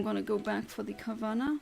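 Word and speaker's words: Carvanha: go back for the Carvana, or Carvanya, I think, because there's an H, and I think it should be pronounced like a the original animal, piranha.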